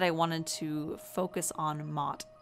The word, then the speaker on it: Ma'at: wanted to focus on Mot. And her name is pronounced differently in a lot of different places, but this is the one that I first learned, and that's spelled M-A-A-T if you want to research her a little bit more.